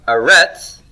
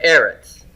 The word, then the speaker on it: Eretz: Arents so look at Eretz there i've got that written down for you here do you see that the stress is on the first syllable here in Aaron's it's not a retz but Aaron's okay so you're gonna